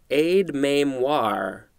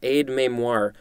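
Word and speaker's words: aide-mémoire: first word for today i believe it is pronounced ade memoir yeah aid memoir a i d e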